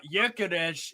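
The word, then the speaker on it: Gyökeres: Lord Rodney trod uh yukes is how you say Victor g g y o k r his name yades it's Hungarian actually he's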